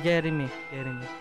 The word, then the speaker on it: Jereme: Yeah, Jeremy. Ganun talaga yung pronunciation. Oo, kasi yung spell niya, Jereme.